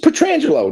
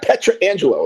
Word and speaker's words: Pietrangelo: It's just Pietrangelo, not Pietrangelo. Like, let's shorten it up. Small, less vowels. I mean, less syllables, right?